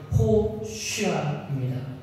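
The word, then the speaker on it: הושיעה: 호산 히브리어로 정확하게 발음하면 호쉬아입니다.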